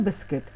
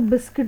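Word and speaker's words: biscuit: आई टी है ना लेकिन इसको जब हम बोलते हैं तो हम इसको बिस्किट बोलते हैं बिस्कुट नहीं बोलते वो हिंदी में बोलते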